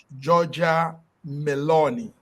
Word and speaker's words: Giorgia Meloni: It has a lady there called Giorgia Meloni. That's like George Meloni.